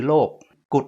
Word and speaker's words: โลกุตตร: ก็ เรียก ว่า โลกุตตลธรรม โลกุต เนี่ย ก็ คือ โลก กุด เนี่ย ออก เสียง เหมือน กับ นิ้ว กุด นิ้ว ด้วน เพราะ ฉะนั้น ใน บาลีเ